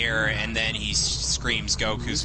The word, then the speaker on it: Goku: Yeah, and it's not, the thing is, it's not pronounced the way it is in the dub in the Japanese version, I'll give it that. But the way the dub pronounces it is a hell of a lot closer to the Japanese version than the way Kaiser pronounces it. Right. Because in the original version, it's like, Goku. Oh god, all these gentlemen. Goku. Son Goku desu. Goku. It's not like a K-E-W.